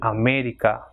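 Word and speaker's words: América: For example, America, ending in A but not, the stress is not in the second last, so it will have the accent mark on E, that is America.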